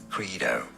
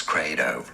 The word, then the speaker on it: credo: a word from Latin there are two different ways of pronouncing it in the US it's most generally said as Credo is it now in British English in the UK difference it as cradle now in Latin originally